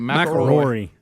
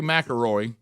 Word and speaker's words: McIlroy: McIlroy. Rory McIlroy. There you go. There it is. So it's Roy and then Roy again at the end of his name. McIlroy. Roy McIlroy. Rory. Rory McIlroy.